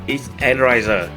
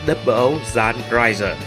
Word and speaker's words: 00 XN Raiser: xác của nó là Double O Zan Raiser. X-N không phải là một từ viết tắt. Nó là một cách chơi chữ của từ Zan (ザン) trong tiếng Nhật tức là cắt hoặc